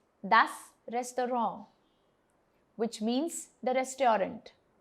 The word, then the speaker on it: das Restaurant: Das Restaurant, which means the restaurant. The word is originally French, but it slightly changes in its pronunciation when we say it in English.